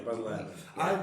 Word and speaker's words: Baz Luhrmann: I don't know, is that how you pronounce it? Baz Luhrmann? Yeah, Baz Luhrmann.